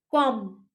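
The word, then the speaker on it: comb: कॉम, B हम लोग pronounce नहीं कर रहे हैं।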